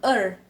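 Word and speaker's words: 二: Oke, pertama 0 ling ling i er ini kan e dan r jadi bacanya er. Cuman biasa kan orang kalau orang dari Cina sana jarang ada yang bisa ngomong huruf R, jadi makanya mereka ngomongnya itu R-nya agak nggak terlalu kebaca, jadi kayak terus san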